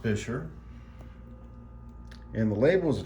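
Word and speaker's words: Buescher: at the logo over here this is it's pronounced fisher and the label is a true tone they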